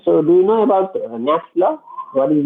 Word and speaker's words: Knapp's law: Uh, K is silent. Okay, so Knapp's law.